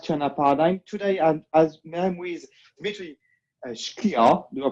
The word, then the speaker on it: Dmitry Shklyar: Today I'm with Dmitry Shklyar. Do I pronounce well?